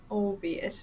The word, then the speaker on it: albeit: my outfit is very simple today of light albeit at a fraction of its form that's how you pronounce it i never knew that oh be it i'll i'll remember that hopefully this isn't fair